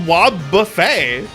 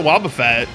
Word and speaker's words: Wobbuffet: His name's spelled Wobbuffet. I don't know why they pronounce it Wobbuffet.